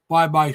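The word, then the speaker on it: Baybay: So he lives in in uh Bye-Bye City. That's spelled Bay. Yeah. The way we were pronounced B- A Y B A Y. Yeah. But in the Philippines, it's pronounced Bye-bye.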